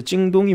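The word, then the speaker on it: 京东: 정확한 발음으로는 찡동이라고 하는데 사실은 이 찡동 자체는 큰 의미는 없습니다. 다른 의미는 없어요. 키워드 자체는. 지금은 사이트가 있으니까 중국 사람들한테 찡동이 뭐예요?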